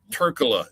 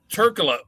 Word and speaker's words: Trklja: They sometimes, because the J is silent, they sometimes say the J.